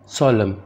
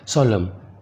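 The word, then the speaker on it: solemn: सोलम संजीदा, इसमें एन साइलेंट है, उसकी आवाज़ नहीं आएगी, सोलम संजीदा।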